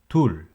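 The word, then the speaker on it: 둘: number one one is hana hana two is tul tul three is set set four is net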